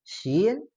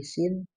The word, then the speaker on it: ش: Pas ketika di Al-Quran menemukan shin dibacanya seperti itu ya. Dan hati-hati hindari jangan jadi tebal bacanya ya. Atau makharijul hurufnya jadi ke bawah jadi sin gitu ya.